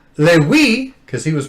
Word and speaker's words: Levi: He said, "How can he try to rhyme Lewi?" Because he was pronouncing Levi as Lewi.